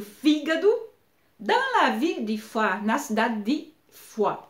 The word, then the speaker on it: Foix: Dans la ville de Foix, na cidade de Foix. Todas as palavras Foix, Foix, Foix, Foix, Foix têm a mesma pronunciação, mas se escreve diferente.